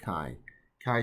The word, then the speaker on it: chi: letter simple chi so you pronounce it it's pronounced as k i chi chi square distribution um we say a variable has